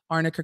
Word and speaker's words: arnica: lawyer was mispronouncing it arnica cream not Amica cream but arnica is also